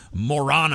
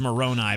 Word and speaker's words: Moroni: So in 1823, 3 years later, Smith was visited by the angel Moroni. I think it's actually pronounced Moroni, but it's more fun to say Moroni.